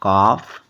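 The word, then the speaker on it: calf: rule हमारा क्या था एफ से पहले आया एल भी तो साइलेंट होता है जैसे सी ए एल एफ काफ एच ए एल एफ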